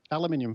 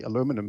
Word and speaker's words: aluminium: air they've got a piece of aluminium foil or as you Americans say aluminum foil sorry and folding